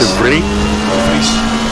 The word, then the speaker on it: De Vries: De Vries. De Vries. Oh, nice. What does it mean? It's basically Solo Vries? Vries is as in free.